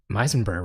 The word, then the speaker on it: Meisenberg: Meisenberg rhymes with Heisenberg.